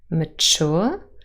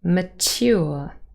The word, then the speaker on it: mature: So we have mature, but also mature. And sometimes you hear the second pronunciation, mature, which is T-Y, in two separate syllables without Yod coalescence.